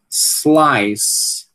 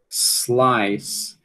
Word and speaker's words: slice: Slice, slice, slice. Veja que muita gente diz isso aqui como slice, slice, né? Coloca um izinho aqui antes, certo?